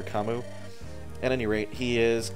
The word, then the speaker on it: Camus: I used to call it the Camus archetype, but I guess it's pronounced Camu, or Kamu.